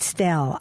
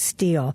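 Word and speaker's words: stele: she saw them as she pronounces it stelle I thought it was steel and Gina your professors call it Steely yes okay it's they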